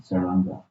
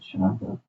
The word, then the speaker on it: Sharanga: Some persons mispronounce his name, Saranga. Not Saranga, Sharanga.